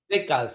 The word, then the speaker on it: Decas: Decas. It's because it means 10. Decas. Decas. Like, uh, Like decade.